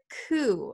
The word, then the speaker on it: coup: right the next word ku remember the p is silent ku a coup is